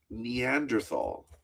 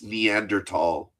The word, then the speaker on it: Neanderthal: Uh, I pronounced Neanderthal and my teacher, Mr. Sarkeesian, corrected me, said it's Neanderl.